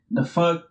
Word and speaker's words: FUCT: So the small like brands I've been like looking at is basically it's like the fuck like that brand the fuck is spelled like FUCT.